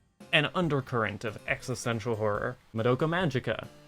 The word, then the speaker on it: Madoka Magica: undercurrent of existential horror Madoka Magica technically that is pronounced Madoka Magica if you read the Katakana but that sounds dumb